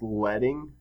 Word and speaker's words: leading: and that is called leading. It's also, I've heard it pronounced leading, which I think refers to something that is in, type, as in print press type.